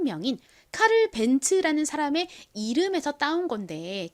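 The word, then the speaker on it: Benz: 벤츠라는 이름이 독일어인 거죠 그래서 영어식으로 읽는 것이 아니라 독일어로 독일식으로 읽다 보니 이가 지소리 즈 소리로 발음 나는 것이 아니라 츠츠 소리로 발음이 난 겁니다 전에도 제가 여러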